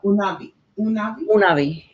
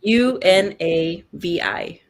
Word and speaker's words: Unavi: Unavi. Yes. It's Unavi. The U is in Spanish.